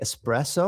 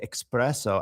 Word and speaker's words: espresso: So, um in English, do we say espresso or we say expresso? I think a lot of English speakers put an X sound there.